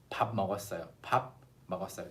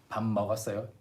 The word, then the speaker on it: 밥 먹었어요: If you say this, 밥 먹었어요, instead of 밥 먹었어요, again, the natural pronunciation 밥 먹었어요, like 밥, with instead of the unnatural pronunciation of 밥 먹었어요, you will sound more fluent and natural.